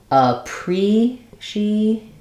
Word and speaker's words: appreciate: two are three syllables basically when we have eight we're not stressing on the eight so in a pre sheate it is the third syllable from the end